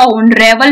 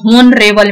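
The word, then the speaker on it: honorable: ऑनरेबल मैन, यहाँ पे एच को हम लोग को यहाँ पे म्यूट करना है, अगर म्यूट करोगे तो ऑनरेबल मैन ना कि होनरेबल मैन।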